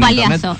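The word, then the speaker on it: Palhaço: ¿Y cómo se escribe? ¿O Paliazo exactamente?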